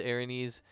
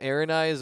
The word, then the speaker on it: Aranese: I was calling them Aranise, which I just like halfway through. I was like, that's definitely not how it's spelt, and so Jake helped me out with a good pronunciation.